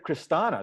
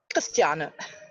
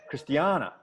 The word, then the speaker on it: Christiane: Kristana, that's how you say it? Kristana. Christiane. Christiana.